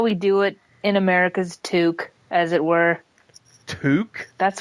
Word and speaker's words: toque: A toque? Toque. Toque, not toque. Okay. It's spelled Toque. Oh my God!